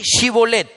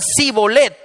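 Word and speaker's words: shibboleth: Si él contestaba no, ellos le decían, "Muy bien, di shibolet." Si decían sibolet, porque no podían pronunciar la palabra correctamente, lo agarraban y ahí mismo en los vados del Jordán lo degollaban.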